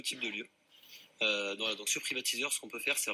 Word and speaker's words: Privateaser: cofondateur et président, donc Privatiseur. Nicolas, bonsoir. Bonsoir. Privatiseur, je le prononce bien, Exactement. Tout est dans le titre. Donc on privatise.